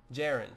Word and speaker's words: Jiren: advice would be great jiren pronounced like Aaron but with a J well jiren I bet